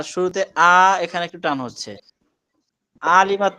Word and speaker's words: علمت: ما নুরুল ইসলাম ভাই, এই যে আইনটাকে গলার মধ্যে নিয়ে উচ্চারণ করতে চেষ্টা করার কারণে একটু টান তৈরি হয়ে যাচ্ছে। এটুকু হবে না, প্রয়োজনে স্বাভাবিক পড়েন, আইন ভালোভাবে উচ্চারণ না হলেও টান দেওয়া যাবে না।